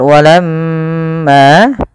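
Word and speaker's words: وَلَمَّا: jaahum pada lafal walamma usahakan kita menahan daripada bunyi suara mim. Karena di sini dilihat mimnya berharakat tasydid. Apabila ada mim berharakat tasydid, maka ia kita namakan dengan bacaan ghunah. Cara membacanya adalah ditahan suara mnya sepanjang dua harakat.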